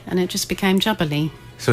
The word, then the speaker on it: Djabali: Yeah, it's because if you take the D away, then it becomes Djabali in Spanish, which means wild boar.